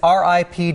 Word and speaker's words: R.I.P.D.: do you say it is it ripped it is ripd it stands for rest in peace department oh department what it's